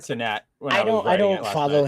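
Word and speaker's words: Cenat: is real Kai sinat I think you say it satat C I think that's how you say it that's how I said satat when I I don't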